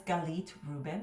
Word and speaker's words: Galit Reuben: nice to meet you my name is Galit Ruben that's how it's pronounced it's actually Israeli name originally I've lived in the